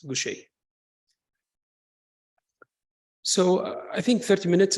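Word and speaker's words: Gaucher: lot of people they they may pronounce it as Goucher disease so it should be pronounced as Gucci so I think 30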